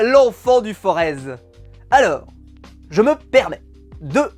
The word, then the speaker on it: Forez: gouvernement de la loire on ne dit pas forez on dit le forez voilà il faut que faut que soit reconnu je sois su non le z ne se prononce pas on dit le forez ça se prononce comme ça chez nous et dans toutes les